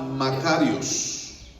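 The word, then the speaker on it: μακάριος: griego, es la palabra Makarios, así como Macario, pues, Makarios con K.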